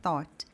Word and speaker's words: thought: A mesma coisa vai acontecer com a palavra thought. Então, aqui a gente inclusive está ignorando as mesmas letras, a gente está ignorando o G H. Thought. No caso aqui a gente está até ignorando os dois H que tem na palavra, está legal?